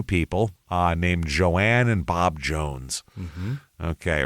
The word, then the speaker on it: Joan: So this place, there's a woman named Joan, which everyone pronounces as Joanne for some reason.